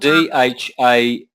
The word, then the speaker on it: Dham: Yeah, that's spelled D-H-A-M-A. You don't pronounce the last A, so you've got Dham.